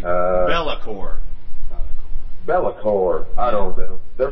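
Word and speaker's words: Be'lakor: I've been calling them Buckor. It's BELAKOR. It's like Bellacore.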